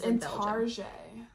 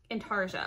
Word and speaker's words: intarsia: her handles bray belly it's in tarjay intarsia okay so i said it right now i normally